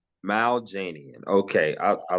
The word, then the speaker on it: Maljanian: Mal Janian. Mal Janian.